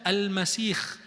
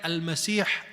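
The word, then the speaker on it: المسيح: Ada yang membacanya Al-Masih Ad-Dajjal, pakai kha bukan ha. Dan itu wallahu a'lam tidak benar. Kenapa? Karena semua dalil sahih dari Nabi, hadisnya menamakan dia Al-Masih Ad-Dajjal pakai ha bukan kha. Dinamakan Masih Ad-Dajjal kenapa?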